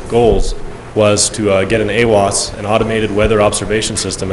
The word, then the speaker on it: AWOS: AWOS.